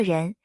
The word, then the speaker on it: 任: 任作姓氏时读作人，在华语流行乐坛有知名歌手任贤齐。